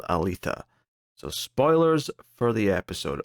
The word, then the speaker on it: Aletheia: episode 12 is called Alita so spoilers for the episode also I think I mispronounced that I think it's althia whatever anyway we're here